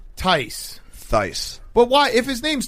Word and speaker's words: Theis: I'm going to keep calling him Theus. Is that okay? Theis. Tice.